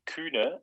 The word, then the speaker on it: Kühne: It's well, I've also kind of misspelled it on purpose because there's a U with the 2 dots above it because I'm German. Oh. Okay. And it's actually Kühne, but for the Kühne.